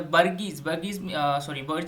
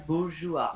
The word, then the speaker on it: bourgeois: were increased, and the burgese means I middle would class just people. like to interrupt once, Lalit. Yeah. That is pronounced as bourgeois.